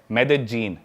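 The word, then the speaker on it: Medellín: उसकी एक सिटी है मेदजीन। स्पेलिंग में उसमें डबल एल आते हैं। मेदलीन होता है। लेकिन कोलंबन स्पेनिश में ल को ज बोलते हैं।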